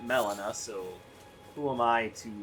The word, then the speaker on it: Melina: torrent and talk to Melita or you know Molina however you want to pronounce her name the game pronounces it Melina so who am I